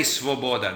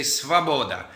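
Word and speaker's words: свобода: You might think it's svoboda, but they don't say svoboda, they say svaboda.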